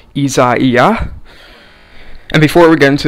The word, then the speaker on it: Isaias: is a weird pronunciation for it but it's pronounced izaiah and before we get into this video i